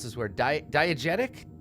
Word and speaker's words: diegetic: of false and I can't remember how to pronounce this where diet diegetic diegetic it's that word there's a false sense of